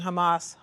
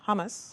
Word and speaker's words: Hamas: forign policy he does pronouncing Hamas humus hummus which is of an excellent ORD derve but not actually a middle eastern radical group exactly it's been